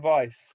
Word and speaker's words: Weiss: I didn't even pause for breath before saying Weiss. Straight in there with the German pronunciation, or whatever kind of pronunciation is.